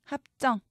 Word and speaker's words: 합정: 소리 나지만 동으로 적습니다 합정 쩡으로 소리 나지만 정으로 적습니다 울산 산으로 소리 나지만